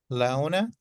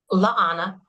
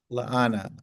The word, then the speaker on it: Laana: Laona, did I pronounce it right? Leona? Laana. Laana. Yes. Sorry about that. You've told me that before.